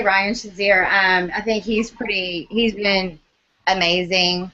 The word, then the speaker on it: Shazier: and I know I'm going to say his name wrong, so Ryan, bear with me. I'm sorry. I believe his last name is Shazier.